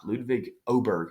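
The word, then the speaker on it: Ludvig Åberg: guys at the top ludic oberg is how everybody's saying to pronounce it now and Tom Kim those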